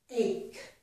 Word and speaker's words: ache: CH makes k in the word character, and also in the word ache.